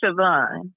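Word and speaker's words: Siobhan: say your name again it's pronounced sioban sioban you said sioban yes hold yeah because that's the the way you see it spelled that's the Irish spelling of it got it okay all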